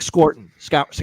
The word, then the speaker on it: Scourton: Nick Scorton. Scourton, I think is actually how you say it.